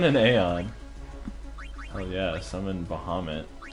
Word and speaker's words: Bahamut: Oh yeah, summon Bahamut. It's another one of those things where it's like not pronounced Bahamut.